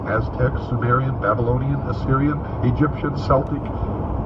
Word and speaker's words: Celtic: Examples are ancient Mexican, Mayan, Inca, Aztec, Sumerian, Babylonian, Assyrian, Egyptian, Celtic, or Celtic as some pronounce it, Aryan, etc.